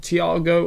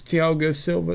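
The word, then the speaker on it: Thiago Silva: coming to newcastle chelsea as i said thiago or i think it's tiago silva that's how you pronounce him kai habits from by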